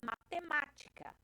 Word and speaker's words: matemática: E aí é matemática. Se você olhar a última sílaba de matemática, K, a penúltima é o ti e a antepenúltima é o ma, que é acentuado.